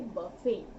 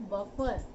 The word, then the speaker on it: buffet: थाली आप खुद लगाएं, उसे बोलेंगे बफे, नॉट बफर। बफर, इट्स नॉट बफर system, it's बफे। और इसकी स्पेलिंग आप नोट कर सकते हैं, BUFFET, टी यहाँ पे साइलेंट है, बफेट नहीं, बफे, BUFFET, बफे, यानी कि